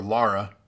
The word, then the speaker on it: Lara: sonic but you should laura croft tomb raider or lara if you want to pronounce it correctly i guess the angry birds movie